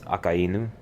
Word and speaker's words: Akainu: But typically in Japanese it's Akainu. Because it's the two words for red dog.